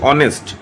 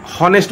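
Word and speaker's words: honest: আর hour টা কিন্তু আমরা জাস্ট এইচ টা কিন্তু উচ্চারণ হচ্ছে না অনুচারিত থাকছে ঠিক আছে অনেস্ট টা বলছি অনেস্ট তাহলে হনেস্ট বলছি না কিন্তু তাহলে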